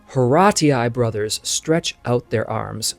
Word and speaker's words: Horatii: Now, some call this painting the Oath of the Horatii. I have heard that pronunciation in American English. That's fine. I believe the original would be Horati. It's also said Horatii. So you can pick whichever one you like.